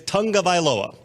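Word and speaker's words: Tagovailoa: NFL research team and their pronunciation is Tong of aloa great Tong of ioa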